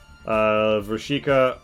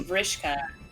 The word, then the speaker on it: Vrishka: Alright, so the queen doesn't seem to really pay notice to Vrishika or Blaze. It's Vrishka. That's how Pat Vrishka. pronounces it, so that's right.